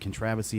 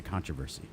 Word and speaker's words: controversy: So I looked it up, and it's English people pronounce it controversy. Americans, it's a controversy.